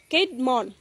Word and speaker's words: Caedmon: Caedmon উচ্চারণ CAD না কিন্তু CAED CAEDMON।